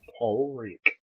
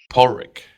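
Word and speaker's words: Padraig: say it as in p o r i poric poric poric yep it's spelled p a d r i a g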